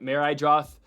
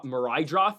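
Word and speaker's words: Meidroth: Meridroth. I always butcher his name because it's not. It looks like it's spelled Meredith. It's Marid. Maridroth, I believe.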